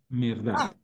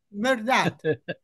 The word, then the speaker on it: Mehrdad: Es muy fácil mi nombre pronuncianlo como si fuera verdad, pero quítle el B y póngan un M. Merdad. Merdad.